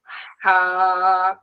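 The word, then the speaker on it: ح: আর যেটা হা এর উচ্চারণে গলার কোন কাজ নেই। আপনি শুধু মুখটা খুলে দিবেন। আর ভিতর থেকে বাতাস বের হবে আওয়াজ বের হবে।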